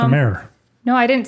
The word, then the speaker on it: Mare: Her name is Mayor. It's not Mary.